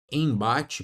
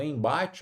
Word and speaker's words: embate: Quando você tem aqui a palavra embate, por exemplo, ó, em bate, veja que aqui, ó, você tem uma vogal, vogal e mais um m. O que acontece? Esse m ele não é pronunciado.